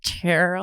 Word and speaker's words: Tyrrell: There's like a little sound that we don't make in Yeah. English. Tyrrell. It's more like Tyrrell.